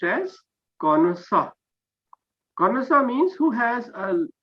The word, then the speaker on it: connoisseur: it is a french word it will be pronounced as cornusa konosa means who has a uh who has